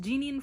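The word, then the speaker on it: Jeaniene: All right, according to Google, her name is pronounced Jeanine Frost.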